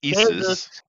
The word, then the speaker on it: Jesus: a carpenter that's right Jesus doesn't start with a G no it doesn't but it sounds like Jesus what's up with that well it's actually not being pronounced correct uh it it should be isus actually a man I'm no